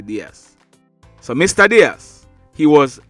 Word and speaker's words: Dias: is diaz it's spelled d-i-a-s it can be pronounced diaz or ds we are gonna say ds so mr diaz he was 33 years old